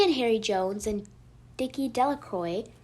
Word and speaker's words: Delacroix: Bobby and Harry Jones and Dickie Delacroix, the village pronounced this name Delacroix, eventually made a great